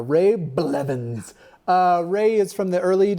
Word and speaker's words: Blevins: It sounds as it's spelled, it just sounded like but it's just one of those consonant sounds. A setup if you wanted me to mispronounce it. Okay, Ray Blevins equals legend. I feel like you should hit the blah a little harder.